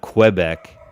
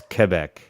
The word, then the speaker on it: Quebec: i believe it's quebec it's not quebec it's quebec you don't the u is almost silent in that particular or non-existent even though it's in there a quebec or quebec